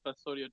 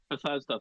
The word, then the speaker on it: Bethesda: best or they do fall out I know Bethodia does fall out but it was it was fall Bethesda thank you man I'm really bad at pronouncing